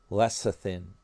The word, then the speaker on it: lecithin: Leth leathin. That's how it's pronounced. It's bizarre. Lecithin. Even though it's spelled with a C there.